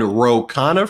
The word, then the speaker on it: Ro Khanna: I'm joined by Democratic Congressman Ro Khanna from California's 17th. Congressman, welcome to the show. Great to be back on. Perfect pronunciation.